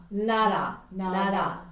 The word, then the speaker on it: 나라: So your tongue goes where? Is it roll up or you just touch the front teeth? Front teeth. That's right. Nara. Okay, nara means what? country란 뜻이야. Nation or country. 나라.